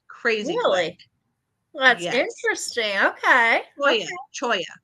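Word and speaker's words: cholla: Choya. That's how you say it. I was about to throw some Jew in like Hala, but that's the wrong thing. I don't know. I was going Chola.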